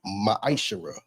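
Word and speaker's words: ma'aser: You can find this in the book of numbers 18 21 in the book of Malachi 3:8-10 means 10th in Hebrew and is pronounc pronounced maishara 10% of every penny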